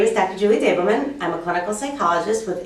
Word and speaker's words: Davelman: I always pronounce it incorrectly. Davelman. Davelman. It's Davelman.